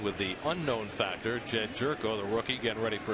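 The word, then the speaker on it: Gyorko: So Jerko gets the opportunity, and yes, that's how you pronounce his name.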